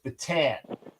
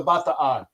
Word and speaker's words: Bataan: It's not the USS Batan. That is a nationalization. The correct way to pronounce that is batan, which is why, and again, yeah, all Americans are going to pronounce it incorrectly. They're going to say the batan, the batan death march. No, it's the bataan.